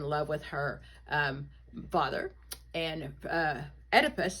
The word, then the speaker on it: Oedipus: Electra, the girl is in love with her father, and Oedipus starts with the O, but it's pronounced Oedipus.